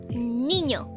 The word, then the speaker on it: niño: So, and lastly, it's niño.